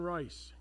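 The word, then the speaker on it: Reiss: Anna von Rice. And Rice is spelled the German way, not R-I-C-E.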